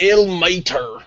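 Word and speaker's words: Ilmater: that IL mat the Forgotten Realms pronounced ill Mater oh ill Mater was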